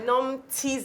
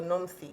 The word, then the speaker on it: Nomthi: For those wondering why I said I got it, so Pastor Nomthi's name is a TH. So don't, if you know her, don't say Pastor Nomthi, because that's the Nigerian way to pronounce it.